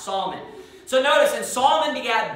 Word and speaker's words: Salmon: to, you know, because salmon is kind of an exception, the way that the pronunciation is of that particular word.